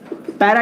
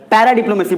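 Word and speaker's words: paradiplomacy: पैरा डिप्लोमेसी, सर इसको पारा मत बोलिएगा, पैरा डिप्लोमेसी बोलिएगा, कोई तकलीफ नहीं है।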